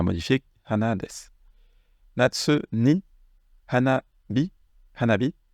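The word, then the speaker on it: 花火: Hanabi, c'est les feux d'artifice. Alors, littéralement, c'est une fleur. Et ici, on a le kanji du feu. Ici, ça va se prononcer hanabi.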